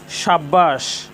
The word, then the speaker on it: সাব্বাস: সাব্বাস, এখানেও ব এর সাথে বফলা যুক্ত হয়েছে। ব এর সাথে বফলা যুক্ত হওয়ার কারণে এখানেও বফলার উচ্চারণ অবিকৃত রয়েছে, যে বফলার উচ্চারণে কোনো পরিবর্তন হয়নি।